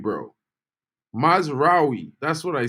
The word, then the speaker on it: Mazraoui: How do I pronounce Mazraoui, by the way? Mazraoui, bro. Mazraoui.